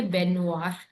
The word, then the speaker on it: baignoire: And before that, ben, G silent है, baignoire.